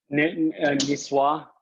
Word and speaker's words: niçoise: Niçoise.